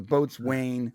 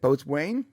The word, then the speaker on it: boatswain: boats when you know the boats Wane how do you say it boats Wayne boatswain but the boatswain looks like whistle he says I very